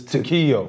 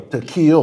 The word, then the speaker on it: Takeo: You did say it right, Takeo. It's Takeo. Takeo, like an E.